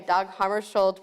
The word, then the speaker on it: Hammarskjöld: Harvey is, and I forgot to ask you how to pronounce this. Dag Hammarskjöld. Okay, Dag Hammarskjöld, professor in International Affairs Emeritus in the Department of Political Science at the University of South Carolina.